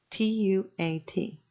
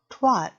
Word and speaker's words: Tuat: is the word tuat, T-U-A-T, not twat, tuat. Twat is one syllable noun and vulgar slang. Tuat is two syllables, and let us explore this now.